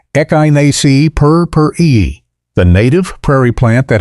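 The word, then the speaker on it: Echinacea purpurea: Echgonia perura, pronounced echyni per the native prairie plant that has been elevated by modern cultivar development from a wildflower into a sophisticated front yard perennial.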